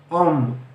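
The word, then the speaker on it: homme: وعلى فكرة حرف الأش في أول الكلمة لا ينطق، أش أم.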